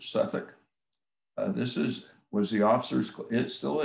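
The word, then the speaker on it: Southwick House: suffolk house it's spelled if you read it you'd say it's southwick but the british pronounce it suffolk this is was the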